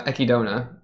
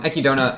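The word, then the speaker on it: Echidna: I really liked um I actually checked the pronunciation uh ekidona EK EK I think it's um ekidona I really liked like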